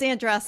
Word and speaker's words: Andressa: Yeah, and I can never pronounce her last name either. Andressa. It's Andressa.